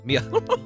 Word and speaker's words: Mia: Was I saying her name wrong? Oh, Mia.